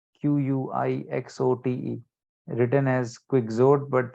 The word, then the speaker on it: Quixote: And the work that he wrote that literally took the European world by storm was Don Quixote, Quixote, written as Quixote but pronounced as Quixote.